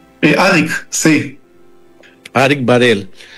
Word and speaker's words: Arik: ¿Arik se pronuncia? Arik, sí.